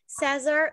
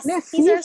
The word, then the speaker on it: Caesar: Eu tô falando essas três pronúncias porque o pessoal também do Canadá fala assim, Caesar, ou Kaiser, né?